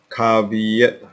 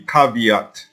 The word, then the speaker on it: caveat: the google page so now you check the pronunciation cabinet caveat so the pronunciation should be caveat right uh so we